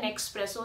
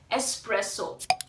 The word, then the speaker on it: espresso: to use it here this is not an expresso there's no X and the spelling as well so you're going to call it espresso right so next time